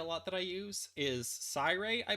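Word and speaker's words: Siyray: can see a lot that i use is cyrae i pronounce it but it's spelled s i y r-a-y so a lot of people pronounce it c-rey but i pronounce it cyrae because of like i like the word i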